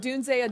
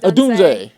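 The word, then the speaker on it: Odunze: So that we don't know how to say his name, but Adunze. Adunze.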